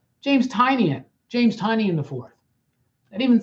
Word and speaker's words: Tynion: In that YouTube video, I have realized that I've been pronouncing James Tynion's name wrong. It's James Tynion. James Tynion. James Tynion the Fourth.